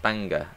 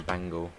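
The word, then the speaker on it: Bangor: hello lewis put that down can pronounce it oh clan fair phil quinn go go go banger is pronounced banger ah i see i was just thinking bangle welcome guys back up to 75.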